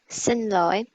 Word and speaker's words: Xin lỗi: Xin lỗi.